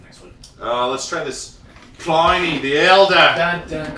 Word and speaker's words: Pliny: Let's try this Pliny the Elder. Dun, dun, dun. Speaking of mispronouncing, there's no way it's Pliny. It's You couch. said it like you were Steve Irwin. It's couch. Pliny.